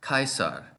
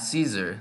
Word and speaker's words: Caesar: words into other languages how do we know this word Caesar was pronounced kaisar with a hard C and not Caesar like we say in English one source of evidence